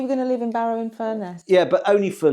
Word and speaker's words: Barrow-in-Furness: Barrow-in-Furness. Furnace. Think furnace really like trying to learn furnace. how to say that. Barrow-in-Furness.